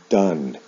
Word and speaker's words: done: Now, in the past participle, the spelling of the ending is the same, but the pronunciation is different. O-N-E with do is pronounced done.